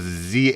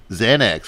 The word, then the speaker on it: Xan: And I thought it was Zane. It's like Xan. little Xanax, little Xan.